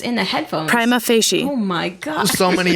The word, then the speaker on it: prima facie: I think the real pronunciation on Google... Prima facie.